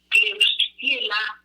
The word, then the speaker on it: Klebsiella: Tenemos la bacteria Klebsiella, así se la pronuncia, voy a dar el